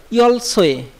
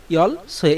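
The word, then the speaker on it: 열쇠: লক্ষ্য করুন, ইয়ল সোয়ে, এই উচ্চারণটা কিন্তু বারবার আপনাদেরকে লক্ষ্য করতে বলতেছি যে ইয়ল সোয়ে, এই যে এইটা উচ্চারণটা কিন্তু সোয়ে, সোয়ে ওয়ে, মূলত ওয়ে।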